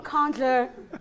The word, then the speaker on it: Nkandla: I like how you pronounce it. You didn't say Nkandla. Oh, Nkandla. Yes, that's very impressive.